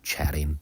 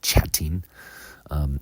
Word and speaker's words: chatting: And again, American English speakers will pronounce the T like a D, so chatting as opposed to chatting. Were chatting, past progressive, came, past simple.